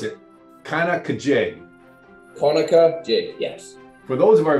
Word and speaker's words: Conococheague: Before we get too deep into the questions, help us understand how to pronounce Conococheague. In the Iroquois tongue, it is with more K, it's Conococheague.